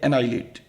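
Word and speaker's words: annihilate: Eradicate का synonyms होता है एनाइलेट, यहां पर ध्यान रखिएगा ये एच साइलेंट है, ये है एनाइलेट।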